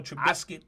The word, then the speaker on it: Trubisky: Yeah, I'm not sure Trubisky has got it. I pronounced his last name right, yeah.